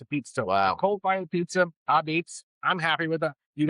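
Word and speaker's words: apizza: And I'm like, it's not a pizza, it's AH Beetz, but it's spelled like A. That's right. It's a type of pizza. It's New Haven style pizza. Wow. Cold fired pizza, AH Beetz.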